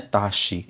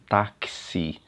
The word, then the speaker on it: táxi: A gente pronuncia, não é taxi, e sim táxi, táxi, certo?